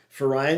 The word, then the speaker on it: Verein: Verein is V's are pronounced as an F in German.